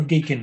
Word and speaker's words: gaken: that something is called a gaken dish rhymes with bacon bacon and so here's our